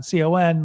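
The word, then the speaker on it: Cannes: on this it's uh khan khan i like it on con like con because it but it's spelled can um southern france that's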